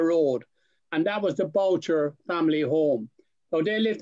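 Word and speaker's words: Bourchier: But in Ireland, they're called Boucher. And there's just other spellings. B-O-U-R-C-H-E-R is in Limerick as well. But he's I-E-R. And then in Bulgaria, it's Boucher as well. So that's the way it's pronounced in both Ireland and in Bulgaria.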